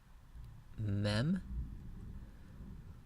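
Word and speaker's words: מם: the next letter is a mem pronounced like English M mem the differentiating characteristic of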